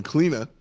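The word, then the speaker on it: Clíodhna: The biggest thing, the fun thing to dunk on here is Cleodna. That's so she is Celtic, and so she will pronounce her name Kleena.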